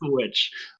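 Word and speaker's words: The VVitch: Yeah, but it's pronounced The Witch.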